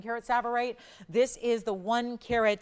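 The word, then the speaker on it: tsavorite: It's actually a more rare variety of a green stone called savverite. It's called savverite. It's spelled with a T. The T is silent. It's a savverite garnet.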